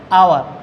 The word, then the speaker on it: hour: এখন কনসোনেন্ট হলেই যে এ বসবে তা না, যদি এইচের উচ্চারণ অয়ের মতো হয় তখন তার পূর্বে এন বসবে। যেমন an honest man, an honourable person, an আওয়ার, এই যে অ্যান আওয়ার, HOUR, অ্যান আওয়ার।